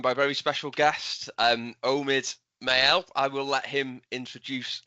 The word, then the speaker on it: Omid Mael: So, as you said, you pronounced my name perfectly, by the way. So, Omid Mael. That's the first job done right. It's not French, it's not English, so I'm not mad whenever people are mispronouncing that.